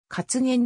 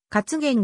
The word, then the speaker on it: カツゲン: jerry in かつげ宮カツゲンゼリーカツゲンアイスといったカツゲンの風味を生かした製品も存在する発音は先頭のかにアクセントがある 2005 年 12 月